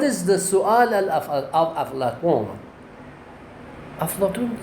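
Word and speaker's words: افلاطون: In Farsi we call it Aflatun, with the T pronunciation, not Ta pronunciation in Farsi.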